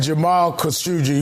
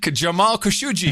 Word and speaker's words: Khashoggi: We have the official pronunciation of Khashoggi. You said Jamal Khashoggi was not a good guy. Jamal Khashoggi.